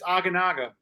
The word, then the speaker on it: Aguinaga: your it's aaga you say it right but it's aganaga aaga all right Spanish it's